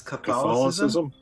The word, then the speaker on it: Catholicism: I mispronounced another word earlier in the podcast. It's Catholicism. Catholicism.